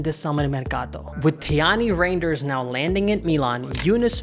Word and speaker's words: Reijnders: With Reijnders now landing at Milan, Yunus Musah reportedly the